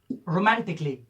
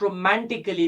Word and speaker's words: romantically: Most of students pronounce it romantically, musically. This is not romantically, this is not musically, this is romantically, this is musically. It's because the letter A is silent in this word.